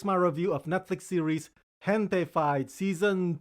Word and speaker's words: Gentefied: I said Gentefied when I should have said Gentefied.